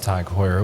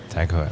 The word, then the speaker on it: Tag Heuer: And I believe there's a correct pronunciation for it in French. For Tageur. Tag Heuer.